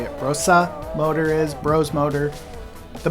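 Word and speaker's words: Brose: So the older your Brosa, that's actually how you say it, Brosa motor is, Bros motor,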